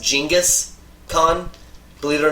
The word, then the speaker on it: Genghis Khan: The Mongols could have damn near after Genghis Khan, or actually his name's not Genghis, it's pronounced Genghis Khan.